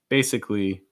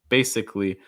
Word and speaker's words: basically: buy some time okay basically basically notice that the second a is not usually pronounced when you say that so usually going to